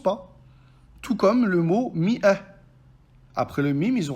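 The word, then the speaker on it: مائة: Tout comme le mot Mi'ah. Après le Mim, ils ont rajouté un Elif pour le distinguer de Fi'ah. Cependant, ce Elif-là n'a aucun impact dans la prononciation du mot.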